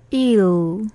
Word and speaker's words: eel: 그 다음에 장어라고 할 때는 긴 발음입니다. 그러면 EEL 발음을 한번 해볼까요? 나영생이 일.